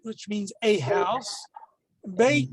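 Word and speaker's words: בֵּית: which means a house bait means house of by changing the vowel sound you change the somewhat of the meaning of the word the essential meaning of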